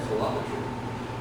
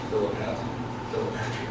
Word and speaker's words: philopatry: Philopatry. I don't know how to pronounce it because it looks like it should be philopatry. It's philopatry.